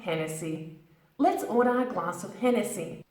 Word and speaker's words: Hennessy: Irish origins it's named after the arena Richard Hennessy and that's how we got its name now careful pronunciation 10 Nancy and Nancy Hennessy Hennessy Hennessy